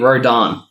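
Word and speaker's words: Rodin: It opens up and we meet Rodan. Okay. Which is definitely spelled different to how it's pronounced.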